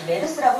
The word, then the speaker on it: MERS: 각각의 첫 글자를 따서 MERS, 메르스라고 읽는데요.